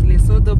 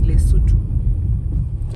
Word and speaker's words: Lesotho: the capital city of L we used to pronounce it as Lodo but apparently it is Leu so we approach we are getting into another